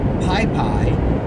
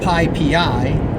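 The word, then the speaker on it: PyPI: writes the upper of the requests Python package pi PI or actually it's pronounced pi PI the Python packaging index pronunciation right which is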